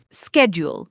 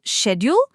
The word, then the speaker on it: schedule: Both are actually acceptable, depending on where you are. In British English, it's typically schedule. In American English, it's often schedule. For Ielts, either is fine as long as you're consistent.